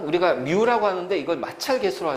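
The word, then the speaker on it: μ: 접촉면의 거칠기와 무게 그래서 뮤 n이라고 그래 뮤 n 뮤 뮤라 읽어 뮤 뮤뮤뮤라고 읽어 뮤라고 읽어 뮤 뮤 그지 접촉면의 거칠기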